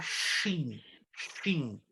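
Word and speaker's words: סין: Quando nós lemos no hebraico deserto de sim, que é sim a forma como nós pronunciamos em português. No hebraico está shin, shin. Interessante, né? Shin, traduzido para o português, sim.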